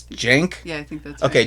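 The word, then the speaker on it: Cenk: It was about I can't I always want to call him Sink because that's how it's spelled but it's Jenk.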